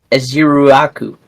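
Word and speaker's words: Ezeiruaku: I got you with the pronunciation. Yep. Let's hear it. Uh Aziruaku. Aziruaku. All right, close enough. Ezier Ruaku.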